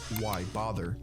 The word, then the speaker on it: WYBATHER: Wybather, which is pronounced why bother.